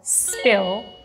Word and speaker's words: spill: a pronunciation tip, let's say, today about Spill The Tea Because I was thinking, the double "L", "Spill" It's different compared to the Italian "L" Yeah, because in Italian